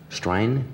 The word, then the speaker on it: Strine: Strine?